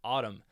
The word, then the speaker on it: ATUM: And I watched an interview with Corgan the other day, the one he did with Zane Lowe, and indeed he confirms the pronunciation is Autumn.